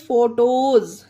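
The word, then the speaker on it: photos: word है उस में एस से पहले ई या वाई आए तो एस को जा पढ़ते हैं अब जैसे कि example P एच ओ टी ओ ई एस फोटोज अब इसे देखिए यह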